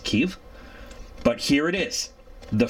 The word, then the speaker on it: Kyiv: I believe it's in proper Ukrainian. It's pronounced Kyiv.